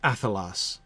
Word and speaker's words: Athelas: So that poem is completely, Catriona, the reason why I pronounce Athelas with a stress on the first syllable, which is not intuitive.